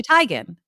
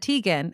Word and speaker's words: Teigen: it's like Chrissy Teigen it's actually tygan but everyone said Tegan and so she just goes by Tegan but you actually pronounce Chrissy teigen's name tygan but she gave it